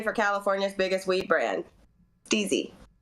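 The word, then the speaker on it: STIIIZY: California's biggest weed brand steezy and that is how you pronounce it the three eyes are steezy uh C is probably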